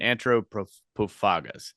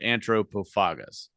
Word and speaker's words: Antropophagus: a TH in it, I say antro because English is the only language where TH makes a th sound. Everywhere else it makes a t sound. Yes. So that's why I pronounce it Antropophagus.